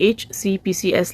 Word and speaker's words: HCPCS: HCPCS level 2 codes को pronounce करने का सही तरीका क्या है? इनको कहते हैं HCPCS, HCPCS, HCPCS, HCPCS।